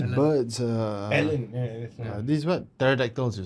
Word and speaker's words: pterodactyls: these what pterodactyls you say? Pterodactyls. Pterodactyls, whichever. The P is silent.